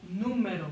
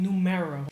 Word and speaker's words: número: It's better than saying numero. So, número, número, número.